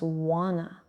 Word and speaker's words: want to: Want to becomes wanna.